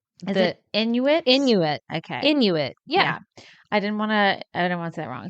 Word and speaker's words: Inuit: me on pronunciation because I don't want to mispronounce this okay um is it Inuit Inuit okay Inuit yeah yeah I didn't want to I didn't